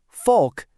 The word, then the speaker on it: folk: The clue here isn't what you're hearing, it's what you're not hearing. Did you figure it out? The answer is a silent L.